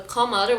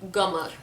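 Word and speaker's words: قمر: a lot of Khaliji dialect and countries, it's pronounced as g sound. So I'll say this example again is the qamar, which means moon. It is transformed as gamar.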